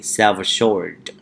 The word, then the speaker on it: self-assured: in england for example we have british accent so we can say self-assured self short so we have two words self assured self assured and then we need to link the work self with your shirt like selfish shirt silver shirt silver shirt self-reserved mean